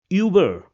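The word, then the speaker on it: über: Another example which means over will be pronounced as uber.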